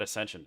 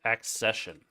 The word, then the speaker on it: accession: I totally said wrong it's not Ascension it's accession did I spell that